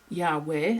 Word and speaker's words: Yahweh: but anyway, little Yod-Heh-Waw-Heh, however Yod-Heh-Waw-Heh is actually pronounced, we don't thoroughly know, but there's indication that it is Yahweh, and we're allowed to pronounce it when we're teaching, so there we go.